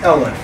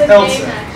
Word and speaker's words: elif: You don't really pronounce this elif, right? That would be really obnoxious. It's actually pronounced else if.